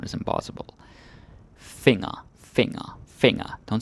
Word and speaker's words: finger: finger finger okay but it's important you pronounce it differently yeah it's the same spelling as in English but the G is what I call a Shanghai ji and you have the n and the g together it's like fing like